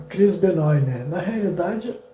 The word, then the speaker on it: Benoit: Na realidade, a pronúncia do nome dele seria Chris Benoit, né? Porque ele é um canadense, provavelmente o sobrenome tem origem francesa, mas eu vou falar Benoit porque é um pouco mais fácil, né? De pronunciar.